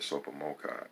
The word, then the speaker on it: TSOPAHMOCCI: and achieved follow-through um t-s-o-p-a-h-m-o-c-c-i pronounced the super mocha and it's five points